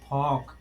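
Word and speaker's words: folk: फॉक, फॉक माने क्या होता है, लोक, OLK, कौन सा नियम लग रहा है इसमें, OLK।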